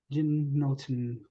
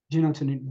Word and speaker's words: genitourinary: Kidney, prostate, urinary bladder, or any other genitourinary. No, man, I was studying it. I'm sorry. Genotin.